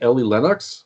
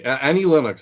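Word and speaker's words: Annie Lennox: Earth mix and LEM I saying it right Ellie Lennox Lennox anyway and yeah yeah Annie is it Annie Annie okay Annie Linux anyway a huge fan of you Earth mix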